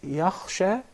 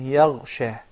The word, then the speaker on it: يخشى: There is a difference between yakhsha and yaghsha. And just mispronouncing the kha would turn the word into yaghsha. So make sure it is wa huwa yakhsha.